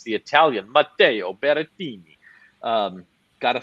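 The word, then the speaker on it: Berrettini: surprised by this but it's the italian mateo beretini um gotta say his name like that he's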